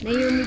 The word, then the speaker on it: Naumi: Ah tita si Nammy po. Nammy si tita. Ay, Naumi po friend ni Stepen. Hindi kasi kayang i-pronounce ng tama ni Stephen yung pangalan ko eh.